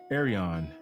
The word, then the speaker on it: Arion: So is that a knock on Joe, or is that just a kudos to Arion, which is the correct way to pronounce his name?